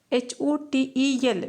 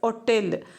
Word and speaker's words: hotel: HOTEL. We shouldn't pronounce it as hotel, but correct proper pronunciation it is mainly hotel. So there H it is pronounced.